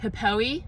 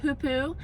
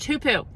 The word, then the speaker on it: hoopoe: to pause and say I thought it was pronounced hippoi but it's pronounced hupu and those of you who know my dad